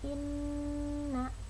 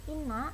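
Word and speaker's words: إِنَّ: Inna. Nah bacanya itu bukan inna tapi inna.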